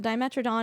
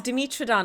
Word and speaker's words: dimetrodon: like okay firstly the dimetrodon is not even a dinosaur it's a and then pronounce it I thought it was demitron I've been pronouncing it wrong all my life I don't know